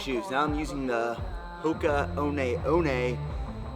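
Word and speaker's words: Hoka One One: now I'm using the hookah own a own a as I learned how to pronounce it as I was calling it the hook of ones last time having yoohoo Kona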